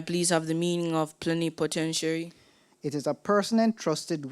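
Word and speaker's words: plenipotentiary: on behalf of another when I when I say plenty commentiary is that right no plenty potentiary plenty potentiary right could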